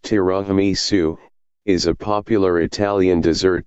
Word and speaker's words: tiramisu: Tiramisu, pronounced tiramisu, is a popular Italian dessert that consists of